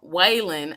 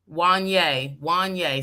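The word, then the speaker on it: Wanyá: And yes, Brandy Norwood brought up dating Waylon. I never can pronounce his name. Wanye. Waylon. Why? What? Wanye. Wanye. See, like Kanye, but Wanye.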